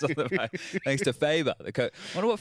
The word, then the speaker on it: Faber: Thanks to Faber. The coach. I wonder what Faber's name Faber. is. Rhymes with Saber.